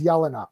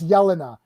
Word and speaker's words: Yelena: say to say budapest the way that that name is pronounced is yelena i literally know yelena's like yeah in my little croatian neighborhood that we grew up in it's yelena i thought yelena was freaking 10 out of 10.